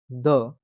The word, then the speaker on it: the: पहला तरीका है when preceding a consonant sound, it is pronounced as the, where the ending sound is the same as the first sound in the word above the।